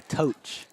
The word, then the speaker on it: Tosh: had a family member it's actually toach toach toach supposed to rhyme with Coach coach okay actually I